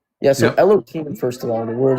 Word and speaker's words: Elohim: I say Elohim because I don't pronounce the hey, not like any specific advantage.